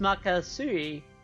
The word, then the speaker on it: Magatsuhi: Also, it's pronounced Makasui.